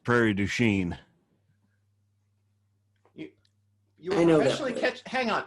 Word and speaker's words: Prairie du Chien: in wisconsin called well it's spelled but it's pronounced prairie du chien you you know hang on you're professionally catching